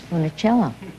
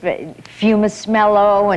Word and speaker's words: Funicello: Nobody could pronounce Funicello. I got the strangest, Fumismello and Funicula.